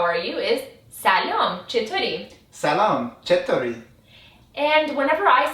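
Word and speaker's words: سلام: in Arabic and Hebrew the way you pronounce it in the Persian way is salom Salam perfect and usually when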